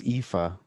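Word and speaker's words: Aoife: it was pronounced the the first one is ifa a-o-i-f-e okay that makes sense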